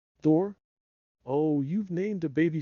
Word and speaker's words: Thor: to take care of she pronounced it tor Thor oh you've named a